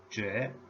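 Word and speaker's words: 亅: The pronunciation is j, tone number 2. Jue.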